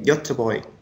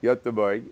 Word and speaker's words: Göteborg: Anthony mentioned the town where he is, and I pronounce it Gothenburg. How would the Swedes say Gothenburg? They say Göteborg. Göteborg.